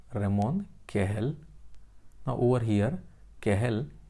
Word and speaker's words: Cajal: Now over here, Cajal, it is Spanish word. So J is pronounced as H, but in India many times we speak it as a Cajal.